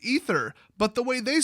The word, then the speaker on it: aether: badass isn't it pronounced ether yes when spelled correctly that word is pronounced ether but the way they